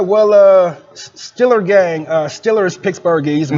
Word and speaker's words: Steelers: Pittsburgh is you know we don't pronounce the long E's in this city so there is no Steelers it's killers uh you know you don't work it to steal meal you work at a steel mill okay you know so